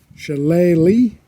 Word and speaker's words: Shillelagh: Challe is the Gaelic pronunciation.